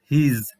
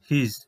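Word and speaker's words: his: এখানে দুটি ওয়ার্ডস রয়েছে, ওয়ার্ডস দুটির কিন্তু সঠিক উচ্চারণ হচ্ছে কনফিউশন এবং হিজ।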